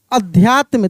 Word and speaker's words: अध्यात्म: अध्यात्म। तो देखिए अ तो सिंपल है, ध्या यानी ध का उच्चारण तेजी से हो रहा है। अध्यात्म, अ आधा ध या फिर आधा त और म, ऐसे अध्यात्म।